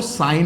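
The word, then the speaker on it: sine: बच्चों हम जो लोग जो सिन बोलते हैं ना, ये एक्चुअल में इसका नाम सिन नहीं है, रियल में इसका नाम कुछ और है। एक्चुअल में इसका नाम जो है वो साइन होता है, इसकी स्पेलिंग ये होती है।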